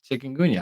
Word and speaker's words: Chikungunya: All right, here's the pronunciation. Mhm. Chikungunya.